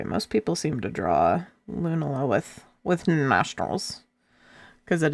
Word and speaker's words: Lunala: I think I need to Lunala. So, it's it's like it's it's it's Nala from The Lion King. You pronounce it like Nala from the Lion King.